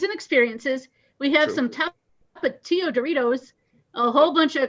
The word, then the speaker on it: Tapatío: We have some Tapatío Doritos, a whole bunch of cupcake-looking snack cakes, and then gummy stuff that's heads and tails and Crush.